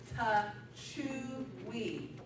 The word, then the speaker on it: Techui: IASO Techui, nobody knew how to say it, it is Techui.